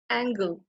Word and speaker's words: angle: উশাহ তেতিয়া অসমীয়াৰ যেটো sing Darjeeling among আৰু angle এতিয়া চোৱা angle এতিয়া যদি ANGEL হলহেঁতেন তেতিয়া আমি pronounce কেনেকে কৰিলোহেঁতেন angel যাক আমি কওঁ পৰি